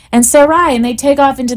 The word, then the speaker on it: Sarai: They think her name was always Sarah, but her name was Sarai with a yud at the end of it, and that is how it would have been pronounced in Hebrew.